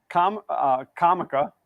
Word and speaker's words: Comica: So Comica, that's how I pronounce it. I hear people say it Kamika as well, but I actually reached